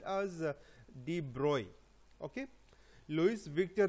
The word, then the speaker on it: de Broglie: And a scientist, Louis Victor de Broglie, even though his name is spelling is this B-R-O-G-L-I-E, it is pronounced as de Broglie. Okay, Louis Victor de Broglie.